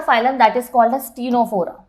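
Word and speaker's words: Ctenophora: Next आता है third phylum that is called as टीनोफोरा. यहाँ पे भी सी हमारा साइलेंट है.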